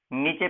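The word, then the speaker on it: knee: Radius और ulna के नीचे पाई जाती है। जो कौन सा जॉइंट बनाती है, कार्पल और रेडियस अल्ना मिलकर के नी जॉइंट का निर्माण करती है। के साइलेंट रहता है, नी बोला जाता है।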